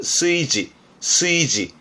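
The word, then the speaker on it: 炊事: 발음은 스이지.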